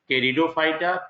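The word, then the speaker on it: Pteridophyta: थैलोफाइटा, second ब्रायोफाइटा, third टेरिडोफाइटा, P silent होगा इसमें, fourth gymnosperm and fifth angiosperm.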